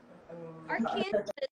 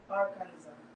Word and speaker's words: Arkansas: How to pronounce? Walang S? Ba't Arkansas? Arkansas. Walang S. Ay, may S talaga siya. Walang S na. Arkansas.